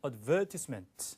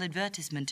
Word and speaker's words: advertisement: 자, 북미 영어는 광고를 발음할 때 advertisement 이렇게 발음하고 자, 영국, 호주는 advertisement 이 음절에 강세를 둬요. 그래서 advertisement 이렇게 들립니다. 자, 기억해 두세요. I received your email advertisement a few weeks ago